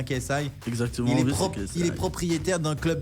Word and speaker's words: KSI: Je je prononce bien. C'est bien KSI.